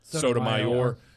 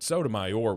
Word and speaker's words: Sotomayor: Well, it needs to be more like, Sotomayor. You got to roll something. I got to roll the R's.